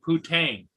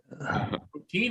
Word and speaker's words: poutine: Well, you got to be careful when you pronounce that, TJ, because the Canadians love to eat poutine.